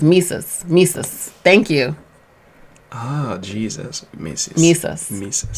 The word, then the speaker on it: Mesus: is a nice hit pronounced like jesus with mises mises thank you oh